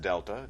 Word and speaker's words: delta: That triangle, which is pronounced delta, just a Greek letter, that means change.